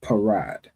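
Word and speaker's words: פרד: The pa is pronounced individually, and then the ra and da will be connected. All right, so that will make the word parad.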